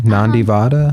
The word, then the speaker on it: Nandivada: Did I pronounce it correctly? Nandivada. Nandivada. Nande. It's the lower D.